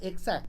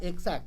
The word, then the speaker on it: X-act: ว่า กล x แอ๊ค ผม เข้า ใจ ว่า มัน อ่าน ว่า Exact นะ มัน น่า จะ ทำ มา ล้อ ล้อ เลียน คำ ว่า Exact นะ ครับ Exact เป็น